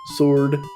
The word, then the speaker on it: sword: SW word that's right sword I tried to to pronounce that like there was no W in it and it just came out the exact same way sword sword sword all right yako is